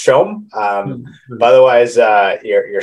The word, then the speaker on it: Som: at the end and it's pronounced showm um but otherwise uh